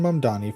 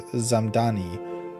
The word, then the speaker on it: Mamdani: Zoran Mdani, New York City mayoral candidate, clapped back after the White House mispronounced his name as Zamani in a viral Tik Tok set to hollowback girl.